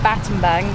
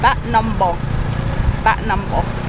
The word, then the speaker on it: Battambang: of this place of Cambodia but the correct pronunciation is not baton bang it's bat number bat number so we just learned what um baton baton